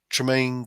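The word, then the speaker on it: Tremayne: Yeah, Tmaine Key. Sorry. So, it's T R E M A N. Sorry, spell it again.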